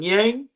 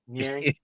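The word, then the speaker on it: Niang: How you say his name? Yang? Nyang. George Nyang.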